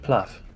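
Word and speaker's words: plugh: It's pronounced pluff. Plew.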